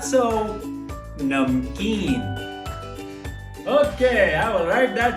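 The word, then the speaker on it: نمکین: Salty in Urdu is namkeen.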